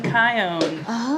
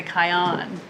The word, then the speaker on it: Kion: It rhymes with my own. Oh yeah. My own Kion. Okay. The mistake people often make is on. They say Kion. It's much closer than Chion or Chion or you